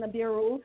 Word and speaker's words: Nibiru: what you know about planning niru or nabiru however they want to pronounce it I pronounce it nabiru they call it Planet